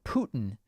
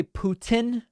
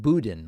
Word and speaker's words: Putin: here's a super chat the way americans pronounced putin sounds like the german word for turkey yeah some people say putin and some say putin